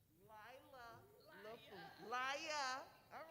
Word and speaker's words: Lila: They don't say it, Layla. They don't say it right. Lila LaFleur. Laya.